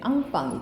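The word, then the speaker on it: enfant: 우유 중에서 치즈, 우유 치즈 거기 브랜드 이름에 앙빵 있지, 앙빵. 앙빵이 인펀트를 불어로 발음한 거예요.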